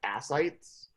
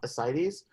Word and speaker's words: ascites: Okay, so in terms of the anasarca, all right, and ascites is spelled like this. It looks like ascites, right? But it's pronounced ascites.